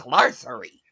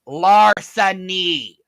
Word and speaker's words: larceny: were a lawyer because you don't know how to pronounce larcery it's larceny who the [ __